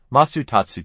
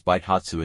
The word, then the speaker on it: 倍達: Additionally, Masutatsu can also be pronounced as Baitatsu in Japanese.